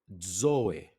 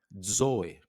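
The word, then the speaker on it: ζωή: Zoe, zoe, que significa vida. Então nós temos aí o zeta. Não é tão difícil de pronunciar a letra Z, né? Mas começa como se fosse um D, né? Zo.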